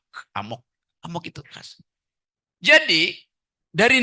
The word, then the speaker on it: amok: Bacanya mesti emak, amok.